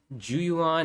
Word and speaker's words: Zhu Yuan: Okay, Zhu Yuan and Qingyi. Okay, so that's how you pronounce it.